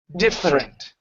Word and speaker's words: different: doesn't exist anymore so instead of saying dada with three different syllables its dot dumb different friend ok almost so instead of diffident diffident diff rent different won't need want there